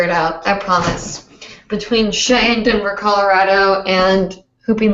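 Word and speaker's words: Che: My name is Shay. C-H-E, pronounced Shay.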